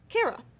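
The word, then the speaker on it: χαρά: Kara is how you say that, just kara, okay?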